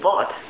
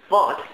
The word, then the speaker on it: Wort: Wort. Word. Wort. Word. Wort. So it's like it's probably spelled exactly the same, but then every time there's a W, Germans like to convert that to a V.